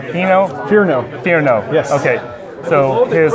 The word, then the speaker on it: Fearnow: Fearnow? Fearnow? Fearnow.